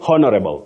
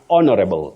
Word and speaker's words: honorable: so honorable don't say honorable it's honorable honorable honorable the H is silent and then you also